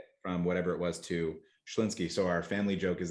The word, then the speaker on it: Schlinsky: great how to uh how do you say your last name schlinsky so just like it it's spelled awesome yeah four consonants